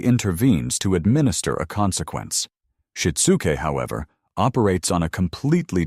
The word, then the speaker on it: shitsuke: The first pillar of the Japanese parenting blueprint is a profound concept called shitsuke, pronounced sheet-soo-kay.